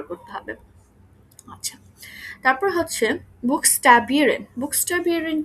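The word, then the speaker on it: Buchstabieren: আচ্ছা, তারপর হচ্ছে বুকস্টাবিয়েরেন। বুকস্টাবিয়েরেন কি? বুকস্টাবিয়েরেন হচ্ছে কোনো কিছু স্পেলিং করা, বানান করে বলা। বুকস্টাবিয়েরেন মানে হচ্ছে বানান করে বলা। এখানে উচ্চারণ করব বুক, তারপরে স্টা বিরেন, বুকস্টা বিরেন, উচ্চারণ করে, সরি, বানান করে কোনো কিছু বলা।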